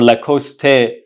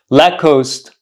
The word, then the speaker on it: Lacoste: I'm here to buy a la coost or La cost let's say uh shirt or an item of clothing what you should say is I'm here to buy let's say a lacost shared lacost I don't know uh pair of socks or